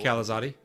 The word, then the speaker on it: Calazoti: Sorry, I don't mean to interrupt you, Seth, but that is how you pronounce Kicker's last name? I had no... Calazoti? Yes. Yeah, Calazoti. Like Panzerotti?